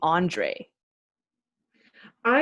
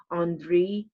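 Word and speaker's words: Андрей: Of course, in Russian, it's pronounced like Andrei. So, like most of the time we say Andre because we're thinking of like the French variation, which makes sense because,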